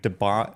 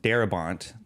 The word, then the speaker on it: Darabont: Uh so uh Frank Debont Darabont I almost mispronounced his name.